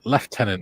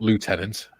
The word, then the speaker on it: lieutenant: Junior says oi Malcolm it's left tenant not Lieutenant is Lieutenant is American pronunciation yes quite correct sorry you